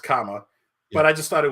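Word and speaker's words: cama: and Spanish would be spelled c-a-m-a but pronounced comma but I just thought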